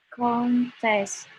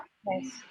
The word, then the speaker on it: contest: Jadi kalau misalnya noun dia di first syllable, kalau dia jadi verb dia di second syllable. Ketika kamu bacanya di first syllable, lalu dia ketika stress di first syllable, nah maka dia akan jadi noun. Ketika you stress it in the second syllable, it will be verb.